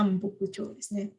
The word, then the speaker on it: Nambokucho: Ya, istana selatan Nancho dan Hokucho, tapi bacanya jadinya Nambokucho.